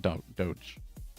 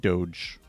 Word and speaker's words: DOGE: media and everybody else has really settled on Doge, pronouncing it Doge. So I I think that the the correct way to pronunciate pronounce it pronounce it is doge. Fair enough. And Anasta thinks it's doggy.